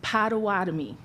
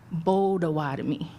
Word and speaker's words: Potawatomi: The colonized word is Potawatomi, but the correct way is with a B, Bodawatomi.